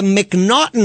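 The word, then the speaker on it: M'Naghten: In the United States, we have something called the Mcnotton rule and it's spelled M apostrophe N A G. It's a and somehow we got Mcnauten out of that.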